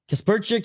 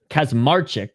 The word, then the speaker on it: Kaczmarczyk: No knee by Kasperic. And that's going to do it for the second round. So I just butchered his name there. Kasmaric. I don't know where the P came from.